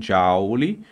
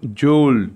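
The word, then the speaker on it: joule: olha se escreve Jou algumas pessoas pronunciam Jou e outras pronunciam jul que seria os uma pronúncia em francês Tá bom Bom como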